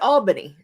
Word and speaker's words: Albany: It's pronounced Olney. And there's an Albany. Ryan will get that one wrong every time. It's Albany.